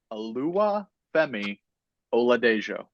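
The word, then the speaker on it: Oluwafemi Oladejo: Alua Alua Fei Ola Dejo, nicknamed Fei.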